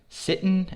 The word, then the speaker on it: sittin': pronounced sittin or mournin it's a very casual way to pronounce those words sitting is the opposite